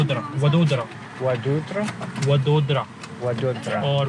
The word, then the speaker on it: Vadodara: Vadodara. Vadodara? Vadodara. Vadodara. Or Baroda.